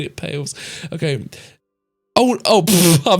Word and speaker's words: Palais: Pronounce the last word as Pales.